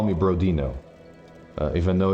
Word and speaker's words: Brodin: It's the same as you call me Brodino. Even though it's easy to to think it's that, but yeah, no, it's not Brodino, it's Brodin.